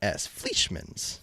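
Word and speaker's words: Fleischmanns: Yeah, it's Fleischmann's. Fleischmann's. Fleischmann's? Oh, so easy to pronounce.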